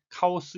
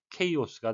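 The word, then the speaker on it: chaos: 되겠습니다 발음에 의하셔야 되겠습니다 우리말로는 카오스 이론 카오스 세탁기 이런 식으로 외래어로는 카오스라고 말을 합니다만 영어식 발음은 kos가 되겠습니다 또 하우스 워즈인 kos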